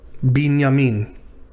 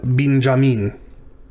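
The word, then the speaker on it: בנימין: This is not an initial yod, but maybe because it's the beginning of a syllable, it comes through as a J. So in our English Bibles, so if we replace that yod with a J, we have Binjamin. Benjamin.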